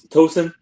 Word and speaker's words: Tucson: Oh, toen Tucson.